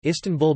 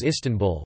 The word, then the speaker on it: İstanbul: As the Turkish alphabet distinguishes between a dotted and dotless I in English, the stress is on the first or last syllable, but in Turkish it is on the second syllable, tan.